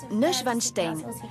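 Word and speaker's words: Neuschwanstein: a débuté en 1869 son nom se prononce N vanstein et il compte parmi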